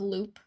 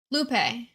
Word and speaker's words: Lupe: Not pronounced like Loop.